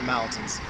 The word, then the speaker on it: mountain: So that last, that suffix there, that tain, needs to be more of a tin.